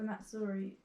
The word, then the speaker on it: Missouri: I'm gonna build a car for Missouri. Is that how you say it? Yeah, Missouri.